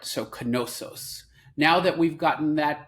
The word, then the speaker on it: Knossos: to pronounce its name is that noos like as in knowledge or no it's actually canosos as in Kish and if you don't